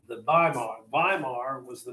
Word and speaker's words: Weimar: of berlin called baimar the germans pronounced those w's as a v the by mark weimar was the name of